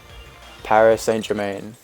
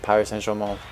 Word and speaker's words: Paris Saint-Germain: team in Paris and like an English or an American person will say like Paris Saint-Germain or something like that but like the proper like close-up pronunciation is like power essential and it sounds completely different like it doesn't even sound like the same words about the fight Milo